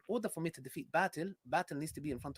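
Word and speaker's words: باطل: Yeah, by the way, it's batil, not batil. It's batil, which means falsehood, by the way.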